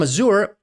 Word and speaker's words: Azure: I'll start say Azure somebody said why do you pronounce azour azour because in French it's azur and obviously as a French Canadian native speaker and azur being a French word I kind of use the French connotation but sorry I'll start